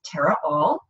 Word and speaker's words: Tara Aal: are not familiar with me my name is Terra all that's name is spelled AAL and you can find me at